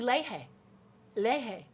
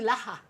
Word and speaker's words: Lehe: And also Amy Lehe, as opposed to Laha, which is how I mispronounced her name since we did 40 years of ACT together.